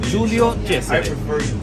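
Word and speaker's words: Giulio Cesare: আমরা হয়তো ইংরেজিতে নামের পরিবর্তন ঘটে গেছে, যে কারণে তাকে জুলিয়াস সিজার বলে আমরা জেনে থাকি, কিন্তু তার নামটা হচ্ছে জুলিও চেসারে।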